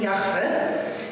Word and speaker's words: Jahwe: Oczywiście to mniej więcej brzmi Jahwe i my mówimy to Jahwe.